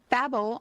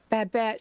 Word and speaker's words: Babette: in the Family, and Babel on Gilmore Girls. Is that how you say it? Babette. Babette.